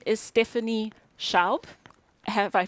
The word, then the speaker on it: Schaub: this speaker um and her name is stephanie sharp have i pronounced it correctly stephanie exactly perfect stephanie is